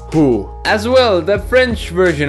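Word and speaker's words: hoe: Flanders I know it's written ho but it's pronounced who as well the French version of saying the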